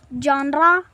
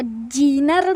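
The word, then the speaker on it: genre: Japan में बहुत सारी जॉनरा है। ये तो जीनर लग रहा है पर उसका प्रोनाउंसिएशन जॉनरा है।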